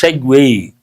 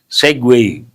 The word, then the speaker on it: segue: How do you pronounce this? Segue. Very difficult to guess also. Segue.